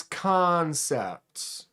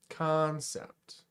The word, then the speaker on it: Kansept: David says it's Kansept. Their customer service helped him pronounce it when he told him he was deaf. Kansept.